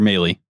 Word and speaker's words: Mahle: How do you pronounce this? Mal? Tyler Mahle.